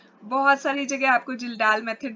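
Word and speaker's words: Kjeldahl: बेटा वह होता है जलडा मेथड से इसमें इसको किलडाल मेथड भी बोलते हैं। जैसे भी आपने प्रोनाउंस करना हो किडाल मेथड से हम करते हैं। बहुत सारी जगह आपको जिलडाल मेथड भी मिलेगा।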